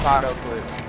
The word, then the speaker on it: Patoclips: It's Patoclips.